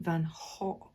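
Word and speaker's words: Van Gogh: of it for you the correct way apparently the Dutch way to pronounce that name is Vincent Van Hof but notice on the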